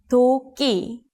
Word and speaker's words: 도끼: Please listen to these 3 syllables to hear the difference. It's not 기, it's not 키, it's 끼. 도끼.